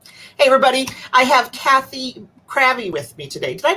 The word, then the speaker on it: Krafve: I have Cathy Krafve with me today. Did I pronounce that right, Krafve? Yeah, Crafty. And if we were from Scandinavia, we would have said Krave, which would probably be easier.